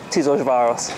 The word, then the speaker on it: Tiszaújváros: Now, I couldn't spell that, but it's Tiszaújváros, because I spent a long time trying to learn it.